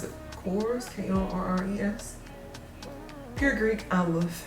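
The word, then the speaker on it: Korres: is just some course i can't decide to pronounce it chorus k-o-r-r-e-s pure greek i love hand cream sea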